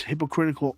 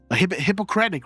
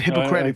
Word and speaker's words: Hippocratic: Hippocratic, right? What is it? How do you say that in English? Is it Hippocratic? I think that's correct. Hippocratic, yeah. Yeah, sorry, guys. Not hypocritical, sorry.